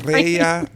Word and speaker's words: Mirella: And then it's another fun fact is my name is actually Spanish. So my mom is from Ecuador. So my name's technically pronounced Mirella. So oh, Mirella. It's my name. Mireya.